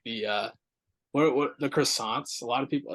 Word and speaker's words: croissant: like the what the croissants. A lot of people. It's got to be King's Hawaiian. It's pronounced Croissants. croissant. Yeah, I'm sorry, creme fraiche.